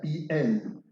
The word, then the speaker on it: piel: hebreo que se conoce con el nombre de piel, como piel, pero se pronuncia piel.